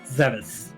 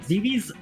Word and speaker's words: Zebes: Did you find the silver arrows on planet Zevis? Planet Zebes? Planet Zebes? There are so many ways to pronounce that. And I know there are people who get upset if you say it the non-canonical way.